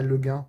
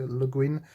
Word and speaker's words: Le Guin: des Bretons qui contribuent, donc ça se prononcerait pas Le Guin de toute façon, donc il faut bien prononcer Le Guin à l'américaine.